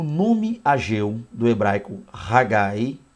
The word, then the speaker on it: Haggai: da língua hebraica lembrando mais uma vez a pronúncia haggai tá festivo tem esse significado aí e esse